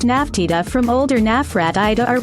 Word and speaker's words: Nefertiti: and Lower Egypt while modern egyptological pronunciation renders her name as Nefertiti the beautiful one has come and probably contemporarily pronounced naftida from older nafrat Ida